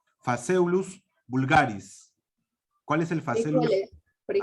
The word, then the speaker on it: Phaseolus vulgaris: La P y la H se pronuncia como una F, por si acaso, en latín. Phaseolus vulgaris.